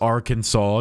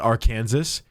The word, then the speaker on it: Arkansas: Arkansas must be pronounced Arkansas, not R. Kansas.